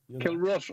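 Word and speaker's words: Kilrush: barry is he there kill rush is the way i'm told it's pronounced yeah kill ruts i knew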